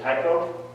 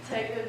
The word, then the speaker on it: taiko: You're also in, I'm going to mispronounce it, is it taiko? That's correct. Drumming? Yeah. Okay, taiko drumming. Maybe you could tell us a little bit about that.